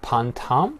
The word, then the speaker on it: pantam: So you touched a little bit on your percussion experience, and I know that you are playing an instrument called pantam. Am I pronouncing it correctly?